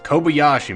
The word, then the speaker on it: Kobayashi: His pronunciation is god awful. It's Kobayashi, man. Get it right.